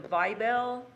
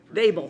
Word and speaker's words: Vabel: Our first one is set a public hearing for June 12, 2022, ordinance 2022-20, the Vibel, is that how you say it, Vabel? How do you say it? Fable. Vabel, thank you.